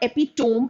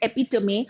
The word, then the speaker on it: epitome: Firstly, learn the pronunciation. It's not epitome, it is epitome.